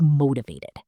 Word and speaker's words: motivated: Another word is motivated. Motivated. The stress is on the third part.